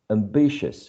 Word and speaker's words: ambitious: before we continue uh there's also um the presence of a schwa in this uh last syllable all right so we never pronounce u or o or e is just a schwa ambitious ambitious next one cautious